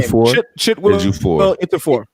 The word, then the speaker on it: Ejiofor: Oh, Chiwetel Ejiofor. I can never say his name. Ejiofor.